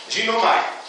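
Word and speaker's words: γίνομαι: A pronúncia grega é mais ou menos esta, ginomai, que significa poder de se tornar completo como.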